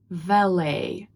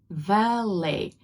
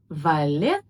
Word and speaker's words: valet: In American English, it's pronounced as valet. Valet. It's not valet, it's valet. The stress is at the end and the t is not pronounced.